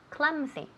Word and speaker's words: clumsy: Se escribe con una U, okay? But se pronuncia con una A. Clumsy.